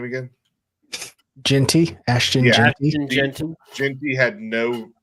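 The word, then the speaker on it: Jeanty: Genty, Ashton Genty.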